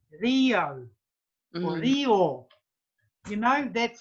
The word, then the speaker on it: reo: look at the spelling, you would expect somebody to say Rio. Yeah. Not Rayo. Rayo. Yeah, Rio. To pronounce it like the letter E, Rio or Rio.